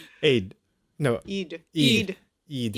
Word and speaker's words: Eid: One thing to note about Eid Al Fitr is that between the two Eids, this actually is known as the lesser Eid.